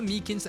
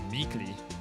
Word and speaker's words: Meekins: it yeah actually officer meekins at the detention center told us ah that poor little doggie poor guy i keep getting his name wrong and calling him meekly yeah he told us